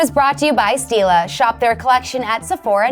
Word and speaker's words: Stila: Steal is spelled like Stila.